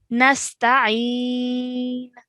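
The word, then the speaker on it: نستعين: Again, we have an ayn over here. Nasta'een.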